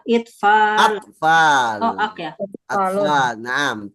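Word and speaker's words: أطفال: Tibla Itfal. Atfal. Oh, ak ya. Atfal. Naam. Tiflun Oh, atfal. atfalun. Bukan itfal ya Nah, bacanya. atfal.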